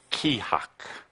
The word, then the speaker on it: KEA-HAK: It is pronounced kihak. Kihak. That sound fun? You can say it. Kihak. Yeah. Kind of like saying shit.